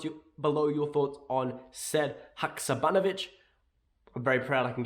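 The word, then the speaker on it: Sead Hakšabanović: in the comments you below your thoughts on said hakuzabanovich i'm very proud i can get his name pronounced right and yeah until next time hail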